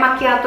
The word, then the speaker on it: macchiato: Jadi kayak macchiato ini kita bukan bilangnya macchiato, but how? Macchiato.